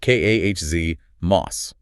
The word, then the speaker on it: KOS-MOS: First up, KOS-MOS, pronounced KAHZ-MOS.